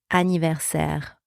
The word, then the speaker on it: anniversaire: So the double N is pronounced like a normal N, and the letter I is pronounced in this word I.